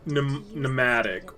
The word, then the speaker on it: pneumatic: that wait the what she said pneumatic which for whatever reason has an m in front of it oh like gnome well gnome has a silent G yeah own mm silent be the be is subtle